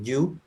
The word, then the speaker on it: You: Hay una serie que se llama que You, que se pronuncia yo, el actor principal es Joe Goldberg, que es un ujú, hombre que está obsesionado con una mujer.